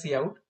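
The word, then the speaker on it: cout: It's pronounced as see out.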